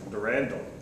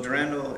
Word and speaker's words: Durandal: Durand is how you say it. We'll say it wrong. So tell us a little bit about Durand. So Durandal is a uh framework JavaScript framework as you